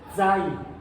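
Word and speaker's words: Zwei: La Z, al estilo alemán, tiene el componente de la T, es Zai. La Z se pronuncia como S, pero con la T previa. Zai, Zen, Ten, Zen, Ten, Zen, Ten. Es la T y sale el sonido de la S.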